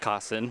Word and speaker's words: Kosen: Is it Kosen or Cousin? Kosen. Kosen.